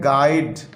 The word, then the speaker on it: guide: तो इसमें बच्चों हम INJU जो है उसे प्रोनाउंस नहीं करते। और लास्ट वर्ड है गाइड, GUIDE, गाइड।